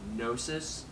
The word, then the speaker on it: Gnosis: I'm talking about monuments I think you pronounce it nosis but correct me if I'm wrong this is their debut